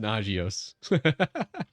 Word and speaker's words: Nagios: It's pronounced Nagios.